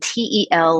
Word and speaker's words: telomeres: that we age so telomeres which are spelled t-e-l-o-m-e-r-e-s pronounced telomeres um so they repeat